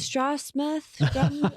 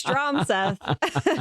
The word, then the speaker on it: Stroth: Long O Stroth straw smith. Nope, it's stroth. You said it right.